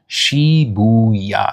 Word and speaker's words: Shibuya: Oh yeah, that's a nice way of pronouncing it, Haps. So you say when you teach them, it's Shibuya.